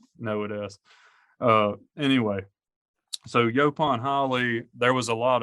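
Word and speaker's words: yaupon: All right, Yopon. I got it. The Sumter correct County.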